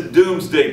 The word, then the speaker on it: Domesday: 4, he has the Doomsday Book written. Remember, it's spelled D-O-M-E-S. It looks like Domesday, it's Doomsday, in which he records everything in the kingdom, so he knows exactly what it is.